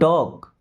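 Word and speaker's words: talk: Don't टॉक। Don't मी्स मत या नहीं। ओके? टॉक। देखिए यहां पे एल साइलेंट।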